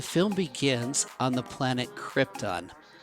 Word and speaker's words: Krypton: The film begins on the planet Krypton, or Krypton if you say it like Marlon Brando says it.